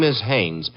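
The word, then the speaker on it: Haines: Hannes. H A I N E S. Ah. Oh, Hannes. Yeah. Do you know him? Well, there's a fell named Hines used to fish.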